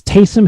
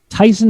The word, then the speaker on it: Taysom: It's Taysom Hill, just making sure we've got that pronunciation right. Tyson Hill, I think, is a brand of frozen chicken.